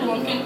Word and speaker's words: blumpkin: It's called blumpkin. Rhymes with pumpkin.